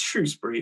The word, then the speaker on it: Shrewsbury: live in shoesbury lovely shrewsbury or shoes it's shrewsbury it's pronounced shrew and it's spelled true so it's